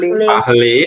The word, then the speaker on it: parlez: parlez. Aí você fala o E.